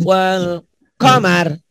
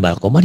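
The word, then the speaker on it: وَالْقَمَرُ: Wajumi'ash syamsu wal qamar. Ayo Bu. Wajumi'ash syamsu wal qamar. Bagus. Dulu mah bukan bal qamar ya Ibu ya.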